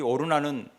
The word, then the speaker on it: 오르난: 하나님께서 이 오르난은 다른 발음으로 하면 아라우나라고도 하잖아요.